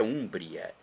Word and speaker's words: Úmbria: Úmbria, na verdade. A pronúncia é Úmbria.